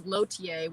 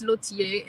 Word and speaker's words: Lautier: at my last name which is lotiea we say lotie in english in french it's lucie and it's a it's